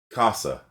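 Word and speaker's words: 傘: So put your hand in front of your mouth and say casa, like house, except in Japanese it means umbrella. So casa. Do you feel the air coming out of your mouth? Casa.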